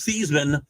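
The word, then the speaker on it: Theismann: me great players Joe seisman who was the his name was thasan until the Heisman uh marketing uh machine got to him and hadn't changed your pronunciation of his name Pat Sullivan at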